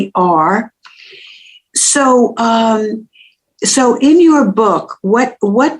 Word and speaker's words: Shaver: Chris Shaver is known as the Couples Whisperer, and he has written a book called The Marriage Cure, and Shaver is spelled as it's pronounced, Shaver.